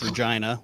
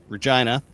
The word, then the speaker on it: Regina: And and like so our two major cities, which is Regina, which I know rhymes with vagina, Regina.